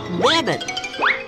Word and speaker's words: Mamet: Mamet. Mamet. Mamet. Now you try. I'm familiar with the pronunciation of his name.